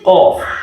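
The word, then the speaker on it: قاف: It is qaf. What did I say? Qaf. Yeah, you must pronounce it as if you are pronouncing q. Qaf.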